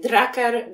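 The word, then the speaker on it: Drucker: kto to mógł być rymuje się straker Kurcze nie przychodzi mi teraz do głowy a nie chce palność głupoty tracker ludzie mówią o nim draker draker i w zasadzie przez wiele lat miałam problem jak poprawnie wymówić to nazwisko więc słówko tracker pomogło mi z prawidłową wymową nazwiska Petera drakera i to jest myślę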